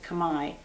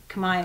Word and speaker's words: Khmer: their their language is called the they actually pronounce it kamai the kamai language and so it's basically cambodian crafts and